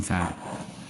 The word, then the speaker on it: czar: En Rusia lo deletrean CZAR y lo pronuncian Zar.